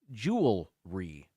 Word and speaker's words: jewelry: People say jewelry as if it's 2 syllables. It's actually pronounced jewelry as it's spelled, but I don't know. Jewelry. It's one of those words where if you say it quickly enough, it just sounds like that's what you're saying. You're just saying it fast.